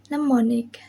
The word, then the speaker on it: mnemonic: Next is the letter M. Example: mnemonic.